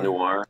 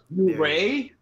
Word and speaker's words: Noire: LA Noir. Noir. Noir. New Ray?